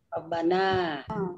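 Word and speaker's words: رَبَّنَا: Robbana apa Robbuna bacanya? Rabbana. Kenapa dibaca Robba bukan Robbu? Karena munada ada harfun nida.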